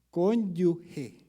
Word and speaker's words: cónyuge: acoge recoge you cónyuge no se dice cónyuge se dice cónyuge si no aquí póngame la siguiente diapositiva esa es la pronunciación fonética a la palabra la que ustedes van a parecer la que parece cónyuge como lo decimos nosotros se pronuncia conduje al igual que acoge al igual que escoge al igual que las